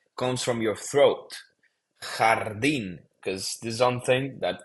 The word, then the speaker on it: jardín: guys forget is that the J, it's pronounced like a H, like an H in English, right? You don't say jardín, you say jardín.